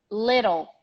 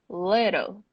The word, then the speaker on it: little: Little. Good drawing, by the way. Little.